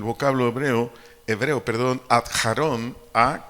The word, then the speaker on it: Aarón: hebreo hebreo perdón a Aarón a K J a r o n acento en la o Aarón su significado nuestro idioma